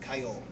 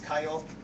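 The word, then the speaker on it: 通う: So I type tsu to get the character, and then I get this, and what you end up with is actually pronounced kayol.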